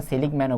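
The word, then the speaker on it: Seligman: বিভিন্নভাবে প্রদান করেছেন অর্থনীতিবিদ সলিকম্যান মানে এটা এটা কিন্তু সলিকম ম্যান এটা ইংলিশে লিখে দিলে ভালো হইতো তোমাদের জন্য এটা হচ্ছে যে অনেকেই এটা অনেকে এর উচ্চারণটা সেলিংক ম্যানও বলে অনেকে সলিকম ম্যানও বলে আচ্ছা যাই হোক আচ্ছা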